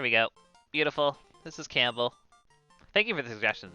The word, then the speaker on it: Campbell: that's if that's cool with you guys not camp milk that's how it's spelled it's pronounced campbell uh after the kernel from uh metal gear solid there we go beautiful this is campbell thank you for the suggestions of everybody ooh